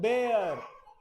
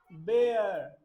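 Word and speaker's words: bear: create dangerous sound it is called बेयर बेयर बियर नहीं बोलोगे आज के बाद बेयर बेयर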